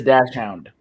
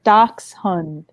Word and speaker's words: dachshund: It's dachshund. It's dachshund. Both pronounced. Dachshund is the American way. Dachshund is the German way. The German both way. Both pronunciations are accepted in American vernacular, folks.